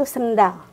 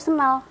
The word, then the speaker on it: sendal: Kan ada yang bilang sendal itu sendal. Ada bilang sendal itu senal. Ada kan? D-nya hilang.